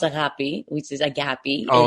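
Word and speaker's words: αγάπη: Now, you're also a radio show host and creator on a gape radio Greek radio.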